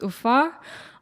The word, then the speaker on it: Ufa: It's Ufa.